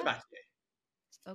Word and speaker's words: Sabatier: Sabatier.